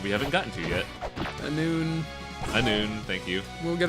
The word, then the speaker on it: Annwfn: Annwfn.